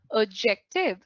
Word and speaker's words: adjective: When you say adjective, you know that the D is silent.